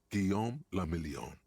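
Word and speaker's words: Guillaume Le Million: Gom lamelon. If it doesn't rhyme, you're not pronouncing it right.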